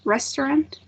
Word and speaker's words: restaurant: um daniela um restaurant it would be in the first syllable restaurant great great pronunciation and